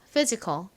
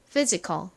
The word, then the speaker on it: physical: all 소리 나는 a l를 써 주시면 완성이에요 발음해 볼게요 physical physical 좋습니다 자 팬들과 함께 써 볼게요 먼저 프